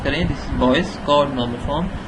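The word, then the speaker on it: Boyce–Codd: तो बी से जाहिर है कि बॉयज कॉड, ठीक है, अगर आप इसे प्रोनाउंस करें this is boys code normal form, तो यानी बॉयज और कॉड दोनों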